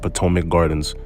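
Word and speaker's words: Potomac Gardens: say it wrong a few times but it's pronounced patomic Gardens like the patomic river also this video is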